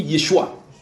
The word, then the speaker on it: Yeshua: Et c'est pour ça que j'ai expliqué dans cet enseignement que en araméen on dit Yeshua. En hébreu on dit Yehoshua. Ça fait 4 syllabes dans un, 3 dans l'autre.